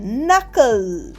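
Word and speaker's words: knuckle: So next is নাকল।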